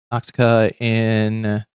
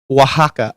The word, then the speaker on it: Oaxaca: Adovada pork with pineapple, Oxaca or Osaka. I think that's how you pronounce it.